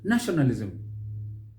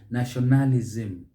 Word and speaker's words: nationalism: how about this one nationalism nationalism nationalism with the stress on that first syllable here what will you hear nationalism nationalism nationalism you can see the stress is elsewhere and that is mispronunciation again let's use as